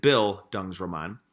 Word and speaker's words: bildungsroman: basically is and then here's a pronunciation in case you're having a tough time with it bill Dung's Ramon is it's a German term that means coming-of-age so